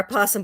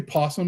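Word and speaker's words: opossum: bounty hunter and her apossum boyfriend. Nice. You say possum. He's a shame. I swear this is not Possome.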